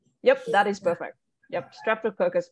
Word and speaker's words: Streptococcus: strap toe caucus yep that is perfect yep streptococcus biogenus yeah streptococcus field biogenesis genus yep yeah